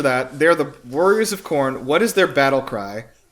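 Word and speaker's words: Khorne: of the warriors of corn before entering. I'm sorry, the warriors of what? K h o r ne, but I think it's just pronounced corn. Like the like the new metal band.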